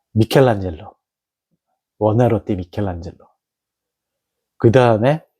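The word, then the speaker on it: Michelangelo: 제가 괜히 그 잘치고 발음을 굴려서 미국 사람들 발음으로 얘기하는 마젤로 로 바른 거면 어 미켈란젤로 워나 로띠 미켈란젤로 그다음에 세 번째 음악의 마이클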